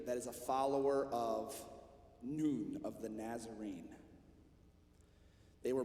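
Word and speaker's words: نون: is that that symbol it's the arabic symbol for the letter n and it's pronounced noon say that with me noon and the letter n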